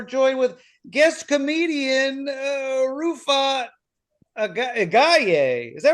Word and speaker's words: Agayev: And I'm today we're joined with guest comedian Rufat Agayev. Is that right? Agayev. Agayev. It's There's a fine. V in there. It's fine if you can't pronounce my Russified name.